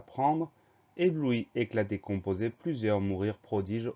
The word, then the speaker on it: ébloui: Difficile, lorsque, morceau, protection, succès, talent, celui-ci à prendre, ébloui, éclaté, composé, plusieurs, mourir, prodige, Autriche, peiner.